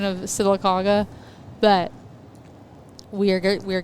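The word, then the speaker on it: Sylacauga: A C A U G A silaga silicaga is how you say it and she said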